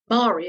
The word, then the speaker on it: Marie: something more memorable too Mari of course rhymes with star and Lloyd was already